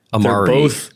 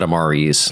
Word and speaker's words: amari: It was like amari. They're both amari, right? They're both amari. I said amaris like a dumbass.